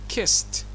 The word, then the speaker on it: kissed: لاحظوا الـ ED في النهاية نطقناها ت. SS أو double S. Kiss. Kissed.